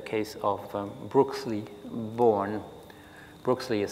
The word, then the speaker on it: Born: s l e y born like the um like the physicist um born b o r n at at a different period and Miss grish brooksley born had been also head